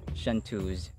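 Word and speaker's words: chanteuse: right ang frappe this french word is pronounced shantu's shantuz would you mind giving a try that is absolutely right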